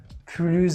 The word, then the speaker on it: plus: Third, if this word has a negative meaning like anymore, we have to pronounce it as plus. For example, je ne veux plus travailler. Je ne veux plus manger. So here, plus means anymore. I don't want to eat anymore. So that's why S is silent.